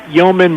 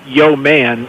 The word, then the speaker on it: Yeoman: And so Joe, you are, to remind people, it's not Yeoman Brewing spelled like Yo Man.